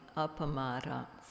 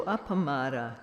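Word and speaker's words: appamāda: about this so there's a word in pali apamara four syllables and what this means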